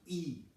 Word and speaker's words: Yi: with what we call the ye y i pronounce e now the E is